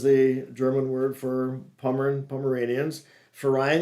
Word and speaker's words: Verein: Verein is V's are pronounced as an F in German.